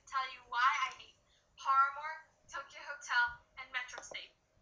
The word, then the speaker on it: Paramore: you why i hate paramore tokyo hotel and metro state for one it's not paramore it's paramore okay say it right paramore first off i obviously